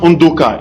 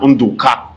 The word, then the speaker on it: Undoka: Delta State, and I can tell you that my name is Undoka. In fact, it's pronounced Undoka in my own dialect, but when you go to the Igbos, they say na Undoka.